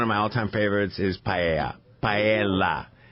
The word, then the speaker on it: paella: There's an L, paella. Paella. Okay, very good.